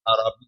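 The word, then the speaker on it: اعرابی: ایک عرابی آیا، عرابی، صحیح پروننسیشن عرابی ہے، نہیں ہمارے بیان کا عرابی کہتے ہیں، وقالت الاعراب، قرآن میں بھی یہ لفظ عرابی ہے، تلفظ ٹھیک ہونا چاہیے۔ عرابی آیا مسجد نبوی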